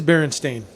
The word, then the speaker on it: Berenstain: That's Berenstain. Yes, it is Berenstain.